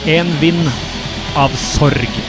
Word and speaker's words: En vind av sorg: Pronunciation of this song in correct Norwegian would be En vind av sorg.